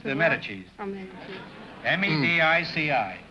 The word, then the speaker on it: Medici: Oh, Medici. M-E-D-I-C-I.